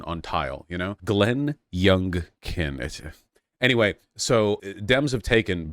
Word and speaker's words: Youngkin: the house and the Senate so uh Greg yunen it's Greg y my sister I always mispronounce that name Glenn yunen Greg Glenn yunen there's something Glenn young kin I feel like that should be memorable but